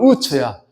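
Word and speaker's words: עוץ: 우스가 히브리어 발음으로 우처야.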